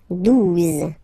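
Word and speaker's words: douze: 11, okay, 12, 12, O, U, the two together will give you the sound OO, okay, and then Z, 12, 12, all right.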